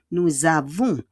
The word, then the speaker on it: nous avons: Nous avons, faites en liaison. Yung S, the S will become a Z.